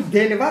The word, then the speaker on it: دلور: متأثر متأثر متأثر هست اون دلور همون دلبر هست با تلفظ محلی خودشون کتاب کتاب کتاب بعدی